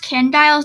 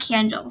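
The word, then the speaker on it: Candials: so her username so it's pronounced canned dials not candle so fun fact right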